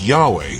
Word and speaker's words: Yahweh: Most scholars today agree that Yahweh is a more accurate reconstruction of the original pronunciation.